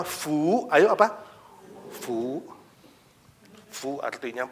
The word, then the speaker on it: 福: it means berkat It means rahmat Tuhan berkat bacanya Fu ayo apa fu fu artinya berkat So it